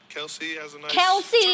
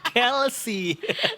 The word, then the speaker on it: Kelce: Kelsey. Oh, Kel Travis Kelsey. Ternyata salah. Ulangin ulang ulang cantik ya. Kelsey kayak healthy ternyata. Kelsey ya. Iya. Selamat menemui hidup baru untuk Torshift dan Travis Kelsey.